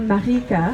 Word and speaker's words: Marieke: En français, je m'appelle Marieke. Alors la prononciation c'est un peu différente, c'est plus Netherlands.